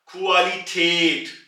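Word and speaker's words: Qualität: होता तो यह बनता क्वाली ठाट मगर चक इसके ऊपर दो नुक्ते यानी कि उमल उट है इसलिए यह बनेगा क्वालिटेट क्वालिटेट यानी के इंग्लिश जबान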